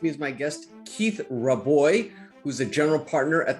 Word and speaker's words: Rabois: to have with me is my guest keith roboy who's a general partner at the founders fund keith did i get that pronunciation right that sounds great well welcome to